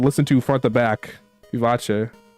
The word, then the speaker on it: vivace: Vivace. The correct pronunciation. I don't know how. Vive sounds wrong. It's Italian. You have to do a little fancy with it. You gotta do a little flush.